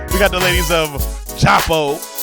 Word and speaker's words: Djapo: We having an African reggae type theme today because we got the ladies of JAPO, because the D is silent, like Django. It's like Django little cousin name. But it's JAPO Cultural Arts Institute.